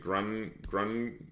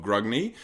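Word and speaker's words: Grungni: So the first thing to kick off is the wrath of, is it Grunni? I've heard it pronounced a few ways, but it's Grugni. So basically, my Caradron force is dubbed the Wrath of Grugni.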